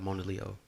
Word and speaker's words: Mona Leo: whole aesthetic is crazy yeah shout out to mona leo and that's how you pronounce it shout out yeah all right uh